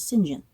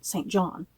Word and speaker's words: St John: kept going you know she kept saying singen and I was like who the hell is singen and then it finally occurred to me she was talking about singen rivers who I had been like I said calling St John Rivers so what's up with